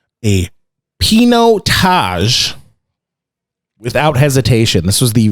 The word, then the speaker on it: Pinotage: really need to taste and he said a pinot taj without hesitation this was the we we asked